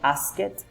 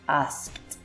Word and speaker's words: asked: alright so his voiceless that's why we are going to pronounce asked this et pronunciation is it is not ask it but is asked then we have changed